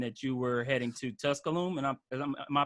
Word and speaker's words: Tusculum: It mentioned that you were heading to Tusculum, and am I pronouncing that right? You are Tusculum, I think.